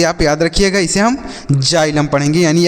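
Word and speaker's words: xylem: हम एक्स नहीं पढ़ेंगे इसको भी हम ज पढ़ेंगे तो ये लिखा गया बच्चों जाइलम क्या लिखा गया है जाइलम एक्स वाई एल ई एम इसे हम पढ़ेंगे जाइलम जाइलम का अर्थ होता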